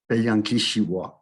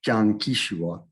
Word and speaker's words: Piankashaw: But here's the correct pronunciation of Piankashaw, Piankishiwa, not Piankishiwa.